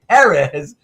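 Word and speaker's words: Pérez: It might even be it might even be George Perez accent on the on the first E, whatever. But the big title is accent on the first E, you know. Um, so and that's from the early 80s. So it goes it goes his his desire to get people to try to say Perez U goes back a long long way, you know.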